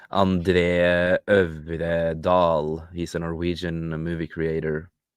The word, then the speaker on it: André Øvredal: André Øvredal.